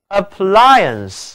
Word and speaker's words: appliance: appliance 这里字母组合 IA 读作 ire ire。